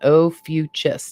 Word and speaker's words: Ophiuchus: and here we go here's the pronunciation oh fuchs now it could just